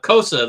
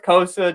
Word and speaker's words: Cossa: Not Hossa, Cossa, the 6'6" monster goalie. Yeah, real fail from Elite Prospects, where normally you can click on the name pronunciation. Nothing for Sebastian Cossa. So we're going with Cossa, just like Hossa.